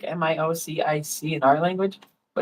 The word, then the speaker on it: Miocic: He's also, I think, a firefighter in Cleveland, but Stipe Miocic um Nike spells his name like M I O C I C in our language, but it's pronounced Miocic.